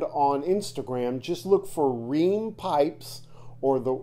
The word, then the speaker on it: Reum: Instagram just look for Rheem pipes or the name Sean Rheem Rheem is spelled r-e-u-m it sounds different than the way it's spelled and his first name